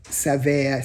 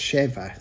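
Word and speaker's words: שבע: Do not read sava sated. The accepted vocalization of this word rather read it as if the word were pronounced shva.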